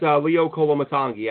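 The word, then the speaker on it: Leo Koloamatangi: So, by the way, that's Leo Kolomatangi, I believe, is the pronunciation there, Alex.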